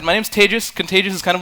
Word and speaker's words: Tejas: My name is Tejas. That's pronounced like contagious, but don't worry, I'm not contagious.